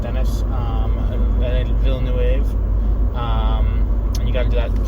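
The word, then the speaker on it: Denis Villeneuve: this movie i've seen people say things about denis villanue however you pronounce his name i know it's very french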